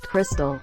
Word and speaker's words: Kirstel: And there was a poor girl who posted on the subreddit "Am I the asshole" the other day whose name was Kirstel, pronounced Crystal.